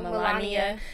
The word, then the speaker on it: Melania: But the part when Donald Trump and Melania come up. Did I say her name right? No, Melania.